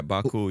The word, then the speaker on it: Baku: It's called Baku. Did I pronounce that right? That's right. Yeah, Baku.